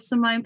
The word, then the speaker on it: Simone: this year, and I'm so excited to have Simone Pavills. Actually, Simone, I checked your last name, but is it Simone or Simone? Simone. Thank goodness. I hate it when people mispronounce names, so I thought I'd just check.